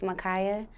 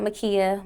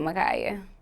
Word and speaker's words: Makiah: stage name okay um you said Alexis Makaya not Makia but magaya people do mispronounce this yeah do people misspell